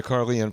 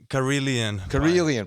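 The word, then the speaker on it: Karelian: You know, big on the Carian pie.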